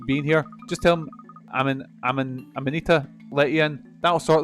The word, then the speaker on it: Amanita: Pronunciation. There we go. Amanita.